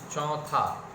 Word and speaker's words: चौथे: नाक का उच्चारण, मतलब नाक से अनुस्वार का उच्चारण जोड़ दे, चौ में औ की मात्रा, ऊपर अनुस्वार, थ और ए की मात्रा लगाते हैं, लेकिन नहीं, उसमें अनुस्वार लगाने की कोई जरूरत। तुम चौथे क्लास में पढ़ते